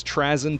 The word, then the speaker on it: Trazyn: Over the course of thousands of years, Trazyn, the audiobook pronounces as Trazyn, but I prefer Trazyn, and Orican basically take turns trolling each other.